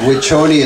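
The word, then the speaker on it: Wiconi: Next year, just type in Wichoni. It's spelled W-I-C-O-N-I, Wichoni.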